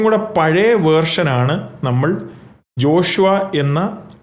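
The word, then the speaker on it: ישוע: അല്ലെങ്കിൽ മലയാളത്തിലെ ആ അല്ല ആ ഐൻ എന്ന് പറയുന്നത് ഒരു ഗട്ടറൽ അക്ഷരമാണ് അതിന്റെ ഉച്ചാരണം നമ്മുടെ തൊണ്ടയുടെ പുറകിലാണ് ഉണ്ടാക്കുന്നത് അപ്പോൾ അതിനെ ഉച്ചരിക്കുന്നത് തന്നെ യശു അതായത് തൊണ്ടയുടെ പുറകിൽ ആ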